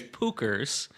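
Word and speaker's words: Puchers: Not only do they not do it and how do you spell it, right? I was just going to say it's Pookers and it's P U C H E R S.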